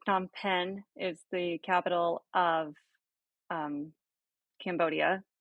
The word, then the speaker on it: Phnom Penh: Phnom Fem or Penom Fem or something. I've only ever seen it written. I've never heard it pronounced. So, Jeff, you are correct. Phnom Penh is the capital of Cambodia, and Kuala Lumpur,